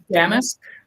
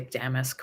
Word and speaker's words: damask: variation on a uh what's the right way to say uh damus yeah I can never say damask right the first time um and this is